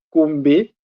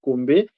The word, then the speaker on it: Kombe: Euh ça s'écrit comme le défi et mon nom c'est Combé. Et chez nous euh comme je suis des nationalités congolaise, nous avons un postom et le mon nom c'est Kombé et mon postom c'est.